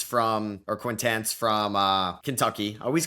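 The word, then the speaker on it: Quaintance: There's Jaden uh Quintains from or Quintance from uh Kentucky.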